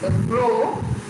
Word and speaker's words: rho: This letter is pronouncing as rho, R-H-O. R-H-O, rho, a Greek letter.